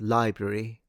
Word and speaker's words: library: It's library. Yeah, library. Um, just like February, the two R sounds in library make proper pronunciation especially hard.